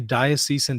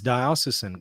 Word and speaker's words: diocesan: So this decree, this diocesan decree, somebody corrected me on my pronunciation on that earlier. Fair enough. I say diocesan, but that's fine. Diocesan. It's going to take me a little while to get used to that.